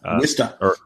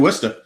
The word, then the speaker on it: Worcester: Okay, Worcester or Worcester for anyone.